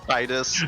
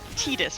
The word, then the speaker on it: Titus: And I will say, I do say Titus rather than Titus, but that's because I've played some FF stuff in Japanese, and that's how they say it.